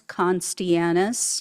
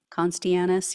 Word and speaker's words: Costianes: former Maryland resident Elias conis I believe it's how you pronounce his name conis yeah um he was